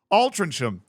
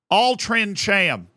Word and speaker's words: Altrincham: We got that team that apparently I horribly pronounced. Altrincham. Altrincham.